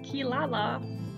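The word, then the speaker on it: Kirara: don't really know why in japanese that r a sounds like la and not rob but that is how it is pronounced kilala and i ain't correcting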